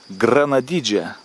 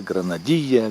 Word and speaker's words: granadilla: Spanish it is called granadija granadilia granadilla granadija depending on how you pronounce certain letters I pronounce grenadija this is my Spanish accent here in Colombia so what I wanted